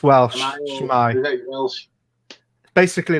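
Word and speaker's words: S'mae: Shmai. Welsh. Basically like, hey. Ah, Right. Shmai. Yeah. How do you pronounce it again?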